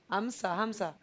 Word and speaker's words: Hamza: is H ham hamama Hamza Hamza Hamza it's a it's a little difficult because sometimes in Arabic you don't pronunciate the H but sometimes it's it's kind of like a like a j right but yeah I'm